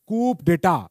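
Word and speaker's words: coup d'état: हो जिसे कहते हैं कूप डेटा अब इसमें यू अब इसमें पी साइलेंट होता है तो क ये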